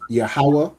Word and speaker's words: Yahweh: Okay, so it is pronounced as Yahweh, which is, what is Yahweh?